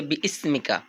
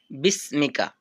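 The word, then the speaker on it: بِسْمِكَ: তারপরে আছে কেউ কেউ বলে বি ইসমিকা। কিন্তু এখানে সঠিক উচ্চারণটা হবে বিসমিকা।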